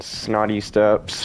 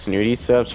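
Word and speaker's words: Snooty Steps: has both The Medallion from fencing fields in snotty steps if I'm going to be honest I know it's pronounced snoody steps but I just really love calling it snotty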